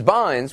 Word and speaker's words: Bynes: never heard of Ms Bynes which rhymes with fines as in fines in